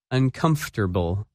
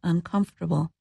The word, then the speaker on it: uncomfortable: That word is uncomfortable, and its opposite, comfortable. When you say this word, you do not pronounce some of the letters that you see in the written word.